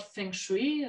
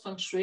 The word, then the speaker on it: Feng Shui: Und wie weit sie verbreitet ist, also ich sag mal so das Stichwort Feng Shui, so spricht man es hier oftmals aus, Feng Shui wäre es auf Chinesisch korrekter, das ist die chinesische